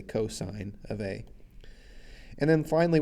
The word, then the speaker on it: cosine: when we see that we don't say costs we say cosine of a and then